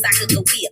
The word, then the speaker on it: Sacagawea: But y'all know me, Sacagawea with a hard G.